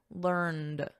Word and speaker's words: learned: So learnt is the preferred spelling and pronunciation in British English. In American English, which I teach, the preferred spelling and pronunciation is learned. So notice we have a soft T here, learnt. And then in American, learned with a soft D, learned.